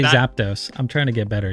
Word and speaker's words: Zapdos: care that much and then I hear people say things like zapados and I'm like okay don't worry I do care it's not zapados yeah as long as